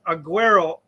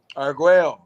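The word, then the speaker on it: Argüello: What movie in 1988 did former world champion Alexis Aguero, got tongue-tied there, Alexis Aguero appear in?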